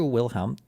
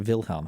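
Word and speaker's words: Wilhelm: on the Aged Kaiser wilham uh is it is it wilham or is it vilhm how do they say this on the Aged Kaiser vilam the in 1878 okay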